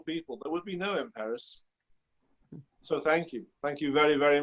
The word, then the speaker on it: Emperis: It's not Empress like people think it is. It's Emperis.